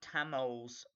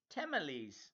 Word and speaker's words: tamales: Haha, calling them Tamils, pronounced. What are they pronounced? Tamales. Hot tamales. I thought, are they not called hot Tamils?